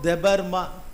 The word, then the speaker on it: Debarma: Ashok தெபர்மா. தெபர்மா இஸ் அ try north ஈஸ்டில். DEBARMA தெபர்மா. Ashok தெபர்மா alias அச்சக். Ashok அப்படி pronounce பண்ணுறாங்க.